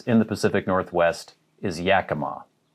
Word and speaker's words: Yakima: the pacific northwest is yakima yakima so the emphasis is on the first syllable there yakima here are a